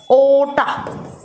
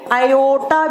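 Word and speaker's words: aorta: महाधमनी का नाम होता है ओटा। ओटा या इसको आओटा भी कहा जाता है। हिंदी में यह लिखा आ सकता है। इंग्लिश में आर साइलेंट रहता है।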